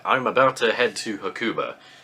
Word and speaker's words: Hakuba: about to head to hakuba uh or hakuba is probably the more accurate pronunciation apparently this weekend the